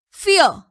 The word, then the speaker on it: fear: Fear. So remember students, A is not pronounced when it comes in a word after E. So here A is silent.